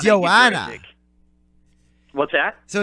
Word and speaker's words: Joanna: Okay, you were so close. It's Joanna. Oh, it's Joanna.